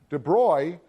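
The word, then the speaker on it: de Broglie: So De Bruy and that's how you pronounce this name. De Bruy came up with this very simple relationship between the wavelength of matter and its velocity.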